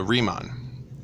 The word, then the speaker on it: Riemann: Rick and Morty Rhee and then Mon not man so like Mon like come on so so riemann his brain aidid bernhard